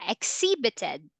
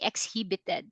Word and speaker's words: exhibited: because Mason okay yeah exhibited exhibited actually that is silent h we don't say exhibited exhibited all right so